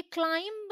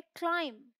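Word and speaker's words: climb: Okay, ये क्लाइंब नहीं है, ये है क्लाइंब, बी साइलेंट।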